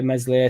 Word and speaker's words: Meslier: But what ends up happening is you end up treating Meslier, Silent S like we did.